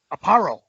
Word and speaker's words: Aparo: Aparo.